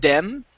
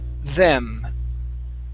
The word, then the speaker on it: them: Okay, pronounce a good TH here instead of them. It's them. Them.